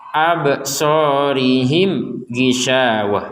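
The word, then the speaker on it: أبصارهم: Perhatikan ini ba bertanda sukun. Ini mim bertanda sukun. Apa bedanya? Dua-duanya bertanda sukun sama. Tapi bedanya yang ba ini dipentalkan, yang mim enggak dipentalkan. Sehingga kita membacanya absorihim gisyawah. Jangan sampai di sini juga dipentalkan seperti ba absorihim him gisya.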